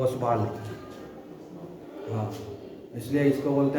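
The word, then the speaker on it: Ostwald: ये बात करने वाले जो आदमी द वो ओसवाल हान इसलिए इसको बोलते हैं साइलेंट है हान उसे बाल डाइल्यूशंस ओसवाल डाइल्यूशन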